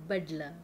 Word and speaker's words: Badla: Dengar tak dia punya correct pronunciation. Lagi sekali. Badla. Badla. Alright, okay. So Badla. Pronunciation yang betul.